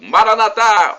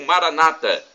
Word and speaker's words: Maranata: pela volta de Cristo Maranata ou Maranata como dizem nossos irmãos separados os evangélicos ou protestantes eles colocam a tônica na penúltima sílaba e nós católicos colocamos na última não importa vem do